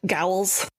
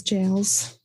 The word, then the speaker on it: gaol: Ye old gowls. Gowls. Jowls. Jowls. Giles. Jails. We're kidding because I said it wrong in a previous episode.